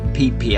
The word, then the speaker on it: Phi Phi: And it's not pronounced how it's spelt, Phi Phi Island, everyone calls it Phi Phi Island.